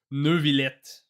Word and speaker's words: Neuvillet: If I were to pronounce his name with like the most like French accent I could do, it'd probably be like Neuvillet. Not a Nervillet. This is like a mix of French and English accent. It's not entirely French and not entirely English. It's right in the middle. The way that they pronounce it. But the R is weird.